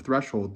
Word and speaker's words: threshold: or at the outset in one acceptable pronunciation of threshold the H is sounded twice so the word sounds